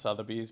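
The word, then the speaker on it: Sotheby's: It's actually pronounced Southern Bees, but we call it Summersbes.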